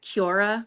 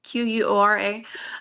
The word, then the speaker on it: Quora: Melody and I wanted to do like a Cura, is that how you say it? Quora.